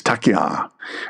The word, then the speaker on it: taqiyya: Taqiyya, or some people call taqiyya, or taqiyya, or taqiyya. It's taqiyya, a doctrine allowing Muslims to lie or conceal belief when under threat.